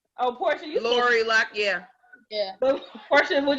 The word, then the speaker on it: Lori Loughlin: So y'all know Lori Loughlin. Is that how you say her name? Lori Loughlin? Oh, Portia, you Lori Loughlin, yeah.